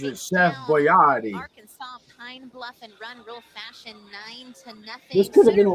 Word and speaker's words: Boyardee: You know, Chef Boyardee is how he actually pronounced it. Can you believe I I used to say Boyardee. But he actually pronounces it Chef Boyardee.